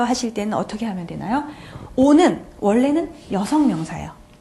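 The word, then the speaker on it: eau: 자, 오 하면 무슨 뜻이냐면요. 자, 발음 잠깐 복습할까요? 으, 아나. 아가 오면요. 오 발음 난다 그랬어요.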